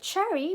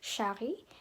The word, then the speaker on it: Charry: Donc pour une introduction simple, je m'appelle Chari, mais en français, il prononce Chari.